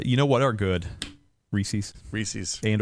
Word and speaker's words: Reese's: It's like Reese's Pieces. It rhymes with feces.